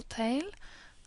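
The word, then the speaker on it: ت: But at the end, you can see the full tail, and it's and it looks like when it's freestanding. Ta is pronounced as T in English, in tea, for example.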